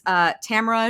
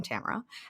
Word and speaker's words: Tamara: But it's Tamara. And cue applause. Welcome, Tamara. Rhymes with camera, if you didn't know.